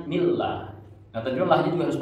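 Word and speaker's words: بسم الله: Lafaz Allah itu ada kasroh bertemu lafaz Allah, namanya tarki. Tarki itu dibacanya tipis ya. Jadi bacanya millah.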